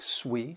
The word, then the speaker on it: suite: And this other sweet that s ui, it is pronounced like sweet sweet. And that is because it's another word that's been borrowed from French and it refers to